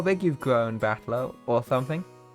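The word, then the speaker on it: 戦人: That is made up of characters for flight and person, and is pronounced Battler.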